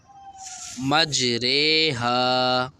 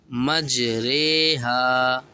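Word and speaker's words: مجريها: یہ ہے مجریہا دکھ رہا ہے۔ اب ادھر رو کو پڑھیں گے رے، مجریہا مجریہا، بئس الاسم الفسوق، یہ جو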